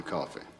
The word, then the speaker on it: Coffey: Your name is John Coffey. Yes, sir, boss. Like to drink, only not spelled the same.